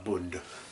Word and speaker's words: Bund: Bund. Almost like a Bund cake without the T.